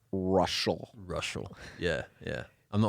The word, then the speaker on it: Reuschal: re e u s c h a l russal russal yeah yeah I'm the only one in